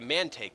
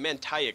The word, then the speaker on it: Manake: to get back to manake that's how you pronounce it I've been calling it manek for the longest time that's what happens when you put vowels next to each other you get a confused pronunciation but yeah manake that's